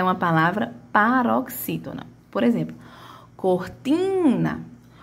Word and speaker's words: cortina: Quem vai ter a minha maior tonicidade aqui é o meu ti, né? Chama tim porque tá junto do N.